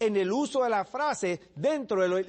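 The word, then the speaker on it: οὐ: Una es la que acabo de escribir en la pizarra, me. Y la otra es u. Se escribe o-u.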